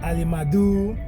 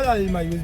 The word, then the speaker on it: Alimayu: They say Alimadu, Alimayu, Mau, they can't. That's true. they can't pronounce his name properly. So, and all Alimayu's brothers, their names are African names.